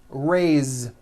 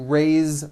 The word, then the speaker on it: raise: Raise meaning like to raise my hand. Now this word is a bit unusual because even though it is spelled with an s, it's pronounced with a voiced Z.